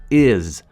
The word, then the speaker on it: is: También se explicaría que la palabra is se pronuncia con una Z, is, my name is David, para que suenes mucho más nativo.